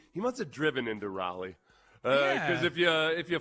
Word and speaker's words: Raleigh: I've been to uh Raleia. I've been to Raleigh. Raleia. Oh, okay. Close enough. That's how you say it. How you say it again? Raleigh.